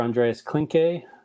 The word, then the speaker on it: Andreas Klinke: yeah, Dr. Andreas Klinke is how you pronounce Dr. Klinke's name.